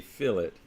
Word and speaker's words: fillet: feature is called a fill it and yes it is spelled like filet but um it is a fillet like you're filling in the gap between these two pieces but it's a fillet